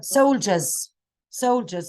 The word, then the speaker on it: soldiers: So this is not D, it's a J. Which gives us the sound of, right? J, soldiers.